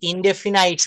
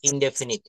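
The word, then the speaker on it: indefinite: অনেকে past ইনডেফিনাইট বলে। ইনডেফিনাইট না উচ্চারণ হবে পাস্ট ইনডেফিনিট।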